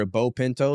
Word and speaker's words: Beau Pinto: much everywhere is either B Pinto So it's b AU like beautiful pronounced like bow tii B auau Pinto like the car the Bean or the horse so B Pinto on